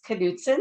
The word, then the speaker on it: Knutson: my last name is Knutson so we do pronounce the k and given our audience